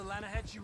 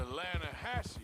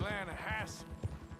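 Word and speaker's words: Lannahechee: The other day, I rode down to the Lanahechee River. I caught some beautiful steelhead trout. You mean the Lana Hasay River. No, no, no, no, no, no. The The Lanahechee.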